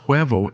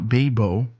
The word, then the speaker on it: huevo: So, for example, in the word huevo, it was clear that it was pronounced huevo and not bebo, or like in the word hueso, so it wouldn't be pronounced beso.